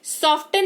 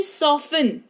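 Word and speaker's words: soften: किसी शब्द में टी के ठीक पहले एफ या एस लगा हो तो टी साइलेंट होगा। जैसे सॉफ्टन नहीं सॉफ्टन है ना एस ओ एफ टी ई एन देखो टी से ठीक पहले एफ लगा हुआ है तो सॉफ्टन नहीं सॉफ्टन हो गया मुलायम या कोमल लिस्टन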